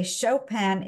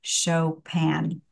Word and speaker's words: Chopin: and by the way chopan is always pronounced in the French way in English it would be something like chopan uh even though it's